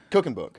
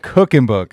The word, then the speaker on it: Kuchenbuch: Is it How do you say how do you actually pronounce it? Cooking book. Cooking book. Okay. Okay. So, it's not Cooking Book. No, it's not Cocking Book.